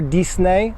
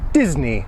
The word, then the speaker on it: Disney: see what the error comes from but never dicen a always Disney just like Presley Elvis Presley Walt Disney for